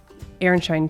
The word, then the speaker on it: Aronszajn: Aaronshine trees. Before we get to Aaronshine Trees, aka Aaronshine trees. Okay, it's not spelled like that, but that's how it's pronounced.